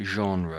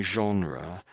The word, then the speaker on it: genre: So, this is a bit of a French-based word and it's not e not you couldn't couldn't really guess it from the the way it's spelled I should say.